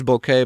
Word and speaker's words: bokeh: a book bokeh bokeh bokeh is bouquet but it's because it's japanese pronunciation ways to spell but